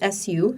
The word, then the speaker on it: su: They didn't understand your pronunciation of the word water. Of the word water, which is su, su.